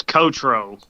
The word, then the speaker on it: Cottraux: never heard your last name so i can't pronounce it it's kotro okay i that's what i would have said